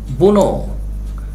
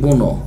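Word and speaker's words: bourn: ইউ আর এনি, অর্থাৎ এটার উচ্চারণ হবে বুনো, হ্যাঁ এটার উচ্চারণ হবে কি বুনো, আবার বুনো শিয়াল মনে করো না, হ্যাঁ বুনো শিয়াল মনে করো না, বুনো অফ টাইম অ্যান্ড প্লেস।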